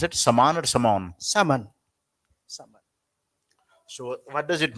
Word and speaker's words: Saman: So, how do you pronounce it? Saman or Saman? Saman.